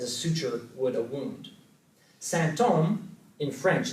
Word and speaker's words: symptôme: It sounds just like symptom, so in French they're pronounced the same, but it also sounds like holy man, Saint Homme.